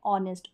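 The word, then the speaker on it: honest: और यहां पर देखें ऑनेस्ट में है यहां पर एओ के कॉमिनेशन क क्योंकि ओ से पहले जो एच है ना वो साइलेंट है ऑनेस्ट ओ का ही उच्चारण हो रहा है अदर स्पेलिंग्स में हो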